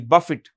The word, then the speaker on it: Buffett: 1975 okay now Warren Buffett how do you pronounce the name b u FF T is Buffett b a f i t Buffett Warren Buffett is considered the greatest stock investor